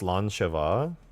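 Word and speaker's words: Slàinte: really appreciate that thank you thank you it's pronounced slancha Scottish gay like oh slan yeah I would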